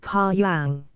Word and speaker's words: Paeon: Paeon, Latin paeon, is also a cry of victory, but the relation of the two meanings is not quite made out. Pronounce rather like pa-yang.